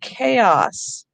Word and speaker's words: chaos: comes from the anglo-saxons is the greek sound and it's in words like christmas and chaos so if your students